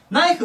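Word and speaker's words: knife: ナイフは、ここの K 発音しません。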